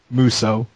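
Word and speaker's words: Musou: best Asian on the X pound how' you pronounce that muso thank you I like Tommy muso yes director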